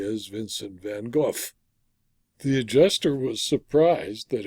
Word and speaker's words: Vincent van Gogh: by Vincent van Gogh which he of course pronounced correctly as Vincent van Gogh the adjuster was surprised that anyone who owns